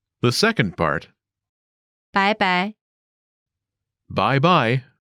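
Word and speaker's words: 拜拜: 晚安 The second part, 拜拜 bye-bye. 拜拜 This expression comes from the English bye-bye. Listen again to the pronunciation. 拜拜拜拜拜拜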